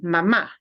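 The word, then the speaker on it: mamá: you really mean mom you need to punch the ah at the end mama because otherwise it sounds like the verb that means a little baby is sucking at Mom's breast getting milk okay so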